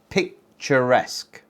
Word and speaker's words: picturesque: Picturesque. Three syllables. Intonation on the first. Picturesque.